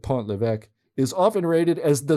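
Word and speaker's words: Pont-l'Évêque: First, Pont-l'Evêque, pronounced Pont-l'Evêque, I think I said Pont-l'Evêque, is often rated as the stinkiest cheese in the world.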